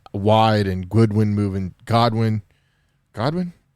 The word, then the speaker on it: Godwin: and goodwin moving godwin godwin did i say right god one i said it right bro he played for